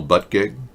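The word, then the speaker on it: Buttigieg: really you know I I checked the pronunciation in French and that's the name is derived from a French he looks French you know and I'm correct in in French when you pronounce his name this is what you get but a gig English pronunciation is but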